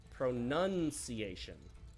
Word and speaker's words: pronunciation: However, when it's in the noun form, the O is dropped and it becomes pronunciation.